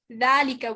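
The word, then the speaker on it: ذلك: hada valika is pronounced dalika with an alif right but when it's written there's no alif this is the right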